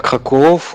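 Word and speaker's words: Kraków: Oui, je suis à Krakow, comme on prononce souvent ici en polonais, mais c'est Cracovie en français dans le sens dont tu t'aimes.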